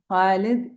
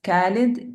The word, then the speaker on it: Khalid: Kha as in Khalid, Ikhlas, usually wrongly pronounced as Khalid, Ikhlas.